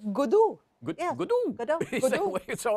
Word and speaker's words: Godot: Yeah, what is the correct The British say Gado. And what do you say? It's British. I get confused now. Well, it comes out every which way. As Elizabeth. Godot. Yes, that's Elizabeth. How do you say it en français, Elizabeth?